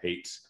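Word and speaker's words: Haight: ceo of a small defense contracting company called hates bay and associates and hate is spelled h-a-i-g-h-t again they my last name b-e-i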